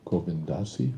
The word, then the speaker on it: Govindasi: that time were uh Goindasi who's still with us and and as she points out Praad always point pronounced her name Goindasi it was never goinda it was always goindasi four syllables.